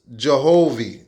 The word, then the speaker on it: Jehovih: Which is now pronounced Jehovih or Jehovih.